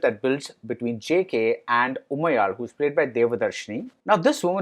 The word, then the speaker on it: Umayal: For instance, she tells JK that her name is pronounced Umayal, and he says he knows because he's Maharashtrian and the L sound is there in Marathi too.